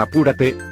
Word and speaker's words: apúrate: La palabra apúrate lleva la mayor fuerza de voz en la antepenúltima sílaba, y según el cuadro, si se tilda.